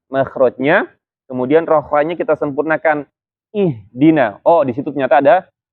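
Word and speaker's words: اهدنا: Misalkan contohnya pada surat Al-Fatihah di ayat ihdina, ya. Kalau kita bacanya nggak perhatikan, itu nggak jelas tuh. Di situ ada H nggak sih gitu, ya.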